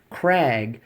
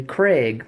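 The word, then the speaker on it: Krag: gun shows they're uh on the tag they'll say Craig like a man's name c r AIG G I've seen it Craig k r EEG Craig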